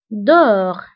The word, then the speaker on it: dehors: وانتبهوا أيضا بالنسبة dedans و dehors كنكتبوهم بأس في آخر الكلمة ولكنها لا تنطق dedans dehors داخل خارج.